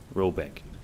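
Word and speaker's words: Råbäck: hargong in question is to be called OPEC pronounced something like roebek though that is not its name it is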